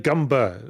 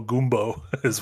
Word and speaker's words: Goomba: dudes yeah flinging gumbas stop saying gumber it makes me feel uncomfortable every time you say it like that I call gumbo goomo Theology of this what about gumba makes you feel feel weird I don't know but it's goom I it's an Italian American term for a foolish